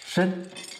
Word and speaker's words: Shen: Shen. La constelación Shen. Una de las veintiocho constelaciones. ¿Conoces el ginseng? Es la misma pronunciación.